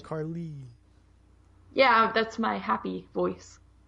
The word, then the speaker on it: Carle: and only co-host miss Carlene Oh Carly why do you say it is if it's spelled like CA RL e that's not how I said it is it Carly yeah that's my happy